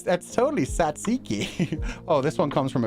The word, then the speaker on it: tzatziki: Pronounce. Oh, it's Satsiki.